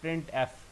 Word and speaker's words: printf: और इसको प्रोनाउंस करने के लिए हम यूज़ करते हैं जी प्रिंट एफ।